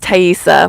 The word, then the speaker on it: Taiesa: It's pronounced taisa, like a tie. Like think of a bow tie. hard e and then s like s dude you know um go live on your birthday.